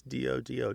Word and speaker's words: dodo: So sometimes it's dodu, D-O-D-U, but usually it's D-O-D-O, dodo.